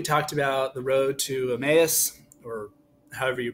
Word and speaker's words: Emmaus: about the road to Emmaus or however you pronounce it I think it's Emmaus that's how I've always pronounced it at least I mean Jesus appears